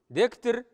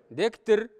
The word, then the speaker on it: дектер: Дектер. Дектер. Вот здесь между Т и Р редуцированное гласное.